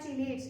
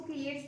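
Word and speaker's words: chelates: लेते हैं what are चिलेट्स। इसको किलेट्स भी बोलते हैं, चिलेट्स भी बोलते हैं, अपनी अपनी प्रोनाउंसिएशन है, स्पेलिंग देख लो आप।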